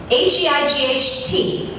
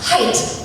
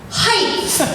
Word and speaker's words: height: is how it's pronounced height it is not in fact height there's no h at the end of height listen I know I